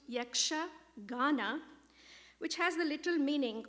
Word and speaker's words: Yakshagana: and a very special treat so yaksagana it's pronounced yaksha ghana which has the little meaning of celestial singing